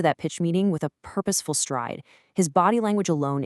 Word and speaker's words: purposeful: Notice how the stress hits right at the beginning on purposeful.